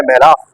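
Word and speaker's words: מלך: हुआ है वो है मेलाख। एक लफ्ज़ है मेलख और एक लफ्ज़ है मेलाख। मेलख का मतलब जो है वो बादशाह होता है, और मेलाख का मतलब फरिश्ता होता है।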